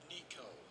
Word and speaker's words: Necho: Was it Nico? Am I saying that wrong? Or Nicho? How to pronounce Nico. I was right.